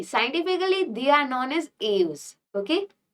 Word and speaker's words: Aves: Now see, scientifically they are known as aves. Okay. How will you pronounce?